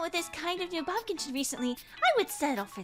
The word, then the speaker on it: Baumkuchen: Give me pronunciation, please. Oh, well, that was louder than I expected. Whoopsies. My bad. Baumkuchen? Baumkuchen.